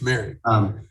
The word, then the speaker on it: Merrick: I haven't seen Morig yet. I think that's how you pronounce his name, our rookie. It's Merrick.